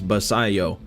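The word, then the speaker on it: Basallo: call him cuz I wasn't sure how to pronounce that last name at first but now I know it's basayo but he was a Pack Attack Legend last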